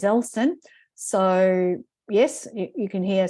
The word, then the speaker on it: Ellson: So some people, add an I in there and call me Ellson, but my name is Ellson.